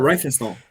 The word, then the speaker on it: Riefenstahl: I don't know how to pronounce her name. The director of Triumph of Will, the documentary on her. Riefenstahl.